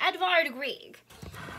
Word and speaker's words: Edvard Grieg: the mountain king by edvard grieg and that's how you say his name edvard grieg okay so i have